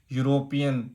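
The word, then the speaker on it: European: यूरोपियन, यू, ये मत देखना कि वावल आ गया,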